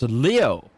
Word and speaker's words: Leo: most venerable Leo aoi it's written with the Ki for lion to be sure but it's pronounced Leo I wager you're impressed